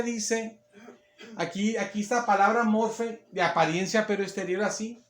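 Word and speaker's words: μορφή: que que la palabra que es morfe se pronuncia Así morfe es el sonido morfe esa palabra morfe hermanas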